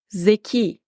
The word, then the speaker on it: zeki: Zeki. Arkadaşlar, zeki sıfatının son sesli harfi i yumuşak telaffuz ediliyor ve gördüğünüz gibi şapka kullanmıyor.